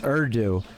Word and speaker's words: Urdu: So it's Urdu. Almost like the U silent, and you're saying and then do, huh?